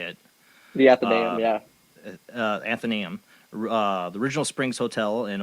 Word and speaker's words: Athenaeum: I always mispronounce it. Athenaeum or Thenum? How do you say it? The Athenaeum, yeah. Athenaeum.